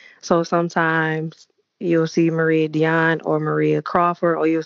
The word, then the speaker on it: Díane: It's actually pronounced Díane. Some people say Diane, but either way, it's perfectly fine.